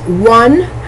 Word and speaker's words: won: The verb to win, W-I-N, past tense, won, W-O-N. It sounds just, it's a homophone to the number 1, O-N-E, but this one is spelled W-O-N.